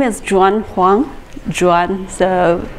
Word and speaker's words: Juan Huang: 2 30 or 2 35 my name is john kwon jordan the pronouncing chinese is joy not in spanish so